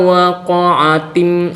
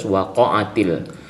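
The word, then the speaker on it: وَقَعَتِ: Jadi bacanya tidak boleh idza waqa'atim waqi'ah. Jadi tidak boleh seperti itu, tapi harus waqa'atil.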